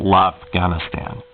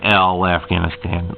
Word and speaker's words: l'Afghanistan: But the French, but here's what French calls it, l'Afghanistan. It's not L Afghanistan, l'Afghanistan.